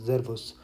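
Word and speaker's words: Servus: अच्छा यहाँ पे जो एस है वो जेड प्रोनाउंस होगा, जेरवस, जैसे कि हमने अल्फ़ाबेट वाली वीडियो में देखा भी था।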